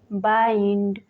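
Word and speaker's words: bind: Rule number 8 है जब आई के बाद ND या LD आए तो तब भी आई को आई से पढ़ते हैं। For example माइंड, फाइंड, बाइंड, child, wild.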